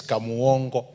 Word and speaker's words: Kamongo: honorable speaker honorable speaker it is kamongo that's the way we pronounce it down there and on behalf